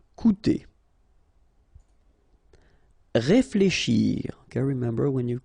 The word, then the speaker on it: coûter: Okay, keep in mind that even if you've got this accent circonflexe on the top of U, it doesn't change the pronunciation, so it doesn't change this combination of two vowels here, so it will be OU, okay?